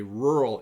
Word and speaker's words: rural: countryside it is a rural area it's even hard for me to pronounce the word rural to have an R a U and then another R right away is very difficult but it's rural and